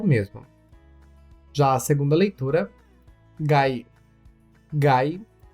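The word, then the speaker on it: 外: sílabas do katakana, a sílaba ta e a sílaba to. Por isso, cuidado para não se confundir. A sua primeira leitura é soto. Soto, usado apenas na palavra fora, que é soto mesmo. Já a segunda leitura, gai.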